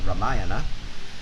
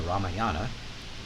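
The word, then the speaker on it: Rāmāyaṇa: story I read from from the ramayana or as some Americans like to say the ramayana which I've been told is the incorrect pronunciation the story of a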